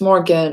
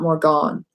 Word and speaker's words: Morgen: it's MRG e and it's not mr GaN it's more again it's not more gone so a lot of